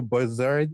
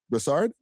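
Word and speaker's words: Brossard: You moved from Montreal to Bazard in in um Sorry. Um I said I pronounced it right. Brard. Brasard.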